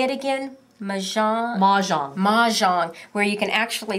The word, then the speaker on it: Mahjong: Mahjong.